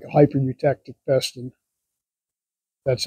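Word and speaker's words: hypereutectic: It's like a hyper eutectic piston.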